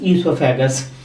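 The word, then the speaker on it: oesophagus: इसका क्या नाम है, ईसोफेगस। ओ इसमें साइलेंट है, याद रखना, ईसोफेगस है, ओ इसमें साइलेंट है।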